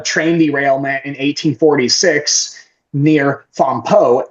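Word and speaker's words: Fampoux: So f a m p o u x cuz like they they for some reason the French like to put x at the end of things which English don't pronounce the same way.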